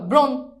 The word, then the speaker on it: ব্রণ: দেখো ব্রণ এই দেখো এই যে র ফালা আছে এজন্য ব এর সাথে ওকার হবে দেখো ব এর সাথে কি হবে ওকার হবে এখন তুমি খেয়াল করো ব্রণ এখন উচ্চারণ করো ব্রণ